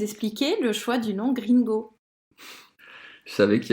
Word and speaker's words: GreenGo: Je pense que quand on parle aux gens au téléphone et qu'on leur dit Gringo, personne se dit que ça s'écrit G-R-E-E-N-G-O. Et ben finalement, si.